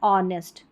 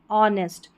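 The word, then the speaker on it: honest: एंड द, अब इसको हॉनेस्ट नहीं पढ़ना है, इसको पढ़ना है ऑनेस्ट, ऑनेस्ट। यहाँ पर भी H साइलेंट है।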